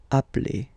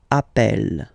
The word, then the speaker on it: appelle: they are the same, then it does change the pronunciation of e. You tend to pronounce it like really open. That's the reason why you pronounce it appel.